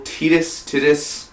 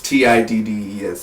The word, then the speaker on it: Tiddes: And the director, I believe his name is Michael Titus. The T is silent. It's Tiddes.